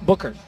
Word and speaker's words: Buchert: his third and ick Buchert and his ninth actually pronounced Booker Nick Booker in his ninth Terrence